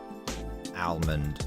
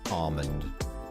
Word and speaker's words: almond: I can respect almond as long as you pronounce the L if you just skip